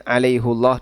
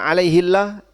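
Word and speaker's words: عليهُ اللهَ: Dan tadi sudah kita sebutkan kenapa hafaz membacanya dengan alaihullah dan itu memang tidak sesuai dengan qiraah jumhur. Tapi semuanya boleh. Dan kalau Bapak baca alaihillah tidak sampai masuk dalam kategori qiraah syadzah atau qiraah yang nyeleneh yang harus ditinggalkan. Artinya tetap be benar.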